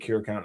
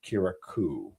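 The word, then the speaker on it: Curaçao: I think Curacao is pronounced Kiraku. I like Curacao. I think Curacao sounds better than Kiraku.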